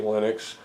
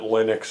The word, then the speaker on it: Linux: And uh once you close down Puppy Linux, it offers you the chance to create a save file and everything's stored in that save file.